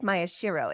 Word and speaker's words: Maeshiro: This is your host, Leslie Neese, and I am here today with Maeshiro. Is that right? Did I pronounce that right?